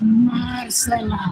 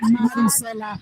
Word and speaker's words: Marcela: Actually, the last time you were on my show, your mom was like, it's Marcela. Yes. Not Maricela. Yeah, no.